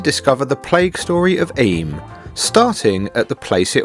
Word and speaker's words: Eyam: And cheers to the village of Eyam, which Sharon just asked how we pronounce it in the coffee shop, and it is Eyam.